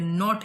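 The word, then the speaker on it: knot: इसमें T silent है, नॉट इसमें के साइलेंट है, कंडेम इसमें एन साइलेंट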